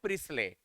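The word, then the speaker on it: Priestley: Joseph प्रिस्ले, T silent रहेगा, Joseph प्रिस्ले, प्रिस्ले बोलते हैं।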